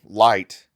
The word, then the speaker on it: Light: knight but his name light rhymes with night but it comes from